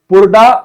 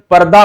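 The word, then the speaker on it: purdah: condition साथ ही साथ पुरदा system भी हुआ करती थी साथ ही साथ इसके पर्दा बोलते हैं उसको उसको प्रोनाउंसिएशन में पुरदा ऐसा दिख रहा है पर्दा सिस्टम है मतलब हर स्त्री को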